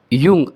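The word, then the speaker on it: Jung: और दूसरा जो हम देखेंगे वह है doctor Karl यंग सी ए आर L Karl यंग जे यू एन जी उसका प्रोनाउंसिएशन अलग है स्पेलिंग अलग है।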